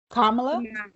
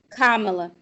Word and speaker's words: Kamala: with uh how do you say her name carmelo kamala okay the thing with kamala is let's like